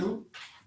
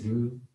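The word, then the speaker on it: Rhue: Rue. It's Rue Oh, okay. and Rue versus Cheyenne. Rue. But then that's what I heard, and I was like, is it The H is silent.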